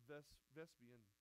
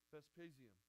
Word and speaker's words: Vespasian: That before Domitian, I'm gonna say it wrong. It's Vespian. What is it? Vespasian. I can never get that one right.